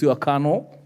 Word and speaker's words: colonel: Why is it written colonel and pronounced kuh.nuhl? English likes wasting letters.